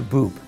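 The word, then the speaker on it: Bub: some just worked Peter Boop and and the reason it's pronounced that way is because he was a Bavarian immigrant and he actually didn't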